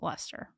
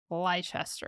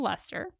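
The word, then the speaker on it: Leicester: that wrong but it's they pronounce it luster but it looks like lychester or something like that you know yeah but it's Newcastle luster he spent his time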